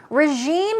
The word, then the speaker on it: regime: It's R-E-G-I-M-E, but it's not regime, it's regime. It's j sound.